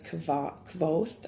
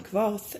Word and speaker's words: Kvothe: So the main character, his name is Kvoth, I think is how it's said.